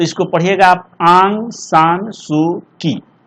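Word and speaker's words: Aung San Suu Kyi: देखिए ये Burmese writer हैं, इनका नाम है आंग, लिख देते आप, इसको उच्चारण बढ़िया से कीजिएगा, आंग सान सू की, ऐसे इसको पढ़िएगा आप लोग।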